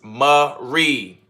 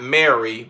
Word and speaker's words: Marie: Got a little, it's Marie. Got it. Is it Marie or not Mary, but you put Marie, Marie. So say yes if that's the way it's supposed to be pronounced.